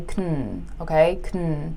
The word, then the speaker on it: can: a couple different ways first can usually has a longer "aaa" sound like we draw it out I can go I can go can't stops okay I can't go it can't go the A is a lot shorter now the easier way to tell the difference is just to realize that we rarely say can drawn out like that we usually say "cn" right so check out this